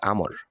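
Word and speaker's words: عمرو: আছে আর তা হলো আইন মিম র এর পরে যদি ওয়াও হরফ থাকে তাহলে তার উচ্চারণ হবে আমর আর আইন মিম র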